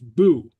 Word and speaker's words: bu: and pronounce ass and the past tense would be bu pronounced boo.